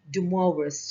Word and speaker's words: de Moivre: i heard uh so it is actually dumour's theorems and it's a french name so of course we